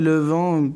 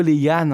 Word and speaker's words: Le Văn: en mode, non, mais Levent, c'est pas du tout. Mais si je te dis, je m'appelle Leyan, comment tu me trouves sur Instagram? Ça se prononce Leyan en vietnamien.